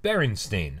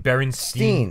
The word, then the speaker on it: Berenstain: nice art was spelled Berenstain I would have pronounced it Berenstain yeah but my entire life I've been saying Berenstein bears yeah bite Stan and Jan Berenstain yeah